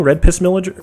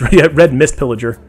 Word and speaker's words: Red Mist Pillager: Am I saying it wrong? Red Piss Villager? Oh, no, it's Red Mist Pillager.